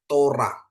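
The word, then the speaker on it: תורה: oke terus yang kedua ada t ya ada untuk o gitu ya Ada Res ada kamats ya jadi bacanya Tora ya Tora ya jadi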